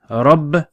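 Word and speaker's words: رَبِّ: one bar with that symbol so rub be robbed be robbed so say it with me Rob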